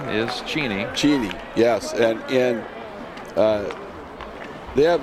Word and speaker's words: Cheney: in Tacoma here a lot of people say Cheney but of course the proper pronunciation is Jeannie Jeannie yes and they have the same problem